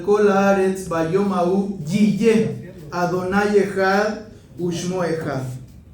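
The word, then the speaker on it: יהיה: Yiyé. Y yiyé se escribe con cuatro letras hebreas.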